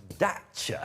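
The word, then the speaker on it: Dacia: They keep referring to themselves as Daca. No, I think that's because that's how you say it in Romania where it's built as well.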